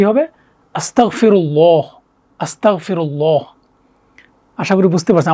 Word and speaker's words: আসতাগফিরুল্লাহ: উচ্চারণ করে হ্যাঁ আস্তাগফিরুল্লাহ এখানে ক না ঠিক আছে হচ্ছে গ এর মতো গাইন তো কি হবে আস্তাগফিরুল্লাহ আস্তাগফিরুল্লাহ আশা করি বুঝতে পারছেন আমার সাথে আরেকবার সবাই একটু বলবেন আস্তাগফিরুল্লাহ আস্তাগফিরুল্লাহ আস্তাগফিরুল্লাহ তাহলে আমরা